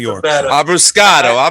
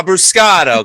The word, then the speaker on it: Abruscato: Abuscato. Abuscato.